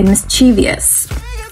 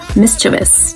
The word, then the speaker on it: mischievous: quinoa quinoa mischievous a lot of people say mischievous even i made that mistake sometimes um with my child because children are usually mischievous they like to make mischief like little uh